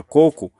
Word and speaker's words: coco: mesma regra a palavra coco é uma palavra paroxítona porque Qual é a sílaba tônica é o primeiro certo então por isso que a palavra coco não é acentuada não recebe acento É